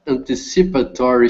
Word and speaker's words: anticipatory: number five the the patent a knowledges that anticipatory shipping might have a number of problems one